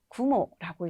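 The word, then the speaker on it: 雲: 구모라고 읽습니다.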